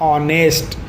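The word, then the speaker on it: honest: लेकिन एच में क्या है? एच में आपको करना क्या है, या आप इसका जब प्रोनाउंसिएट करोगे, जब आप इसका उच्चारण करोगे तो ये होता है ऑनेस्ट।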